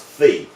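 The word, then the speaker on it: phi: Greek letter fee and this is the Greek letter theta so it's pronounced fee so when you put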